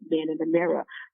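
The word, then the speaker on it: woMAN in the Mirror: And that's why I titled it Man in the Mirror. And actually it's spelled woman, but the W-O is very silent. And the M-A-N is capital. So it's Man in the Mirror.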